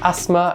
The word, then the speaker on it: asthma: ask what is asthma, how do you pronounce asthma? Because there's the T and the H. Are you meant to say it? Some people do. Okay. It depends on your accent, but I say asthma.